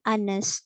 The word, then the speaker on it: honest: Oke, nah di sini honest ya, H-nya juga silent. Ya, jadi bacanya an honest student, an honest man, an honest girl.